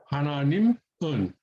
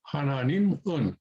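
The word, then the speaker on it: 하나님은: So hananimun, hananim un, hananim un. So you can pronounce it like that. A more advanced Korean speaker would sort of slide one into the other and say hananimun, hananimun.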